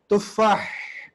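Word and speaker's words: تُفَّاح: হাজা তুফাহুন, তুফাহ, তুফাহ, তুফাহ, তুফাহ, হ্যাঁ, তুফাহ, হা পাতলা করে, তুফাহ, হ্যাঁ, তুফাহ, এখান থেকে আসবে তুফাহ।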